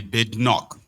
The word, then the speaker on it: Badenoch: Kemi Badenoch. That's how they pronounce the name.